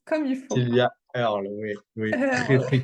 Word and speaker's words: Earle: De Sylvia Heard, si je le Sylvia, prononce comme il faut. Sylvia Earle, oui, oui, très Heard, très connue.